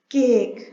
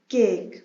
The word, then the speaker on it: cake: For example हम अगर vowel A की एग्जाम्पल देखें, केक, CAK, केक। केक में लेटर ए ये वॉवल के तौर पर बिहेव कर रहा है, यहाँ पर लेटर ई साइलेंट है।